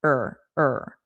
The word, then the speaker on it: or: So, this one is just or being reduced to r. Er, er.